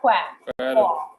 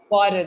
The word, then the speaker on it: quarrel: you try saying quarrel it has a false sound not quack quarrel yeah you listen check